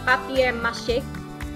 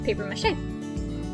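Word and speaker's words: papier-mâché: an eye right before they eat because it's pronounced pop cake so in French this would be papier-mache whereas in English it's paper mache and then we have a fixed I don't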